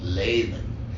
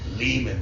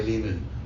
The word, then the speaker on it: Lehman: overseas, in Germany, the name is German and they pronounce it Lehman. And then there's places where so I wanted to make sure that it was Lehman rhymes with demon.